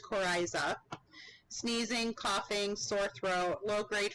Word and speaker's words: coryza: congestion and discharge so nasal discharge and that's pronounced coryza sneezing coughing sore throat low-grade fever headache malaise